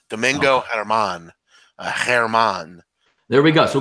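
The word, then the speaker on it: Germán: kids pitch for the Yankees give me the pronunciation the G in Spanish names just silent it's Herman Domingo Herman Herman there we go so go Domingo here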